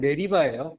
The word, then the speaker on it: 메리바: 이제 오미를 붙여서 우리바라고 원래는 메리바예요 발음 자체가 히브리어로는 매립하고 영어로도 매립하여 근데 왜 물이 바로